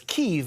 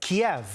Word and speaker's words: Kyiv: Some have wondered why we're pronouncing Ukraine's capital as Kyiv instead of Kiev. That's because Kyiv is how Ukrainians say it. Kiev is how Russians say it.